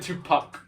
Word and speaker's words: Tupac: I was like, No, but they said Tupac. Tupac. Like 2 packs.